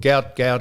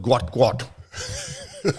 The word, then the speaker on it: Gout: So they came back and said, we can announce exclusively that person we thought was called Gout is called Gwat.